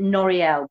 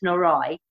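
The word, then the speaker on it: Noreuil: You would pronounce it Noriel, but it's Norrie.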